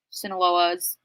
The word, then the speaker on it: Sinaloa: the questions um but I wanted to answer sinaloa's tacos which am I saying that right Sinaloa